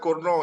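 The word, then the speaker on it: Cournot: Nah, bacanya Kurno itu ya.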